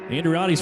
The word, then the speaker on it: Andriotti: You gotta act like you're really Italian when you say that one.